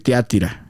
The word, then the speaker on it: Tiatira: un mensaje Dice diciéndome no se dice tía tira o o tía tira s yo no s aquí le vamos a decir tia tira Pero podc se escucha